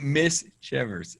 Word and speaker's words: Miss Chivers: So if you say it quickly, it's Mischievous.